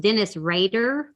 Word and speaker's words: Dennis Rader: Okay, so I don't want these people, and it's pronounced Dennis Rader.